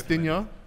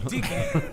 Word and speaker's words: Digne: He don't get the French pronunciation. He's Digne. Why are you trying to make it sound like a Pokemon? Because he's Digne.